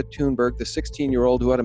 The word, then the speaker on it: Thunberg: I'm told now that's the way to pronounce her name, not Thunberg, but Greta Thunberg, the 16-year-old who had